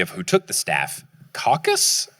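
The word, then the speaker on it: Cacus: Caucus? C-A-C-U-S, I believe, is how it's pronounced.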